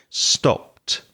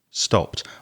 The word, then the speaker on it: stopped: So be careful not to pronounce the E in stopped. So it's a T sound, almost like a T. Stopped. Stopped.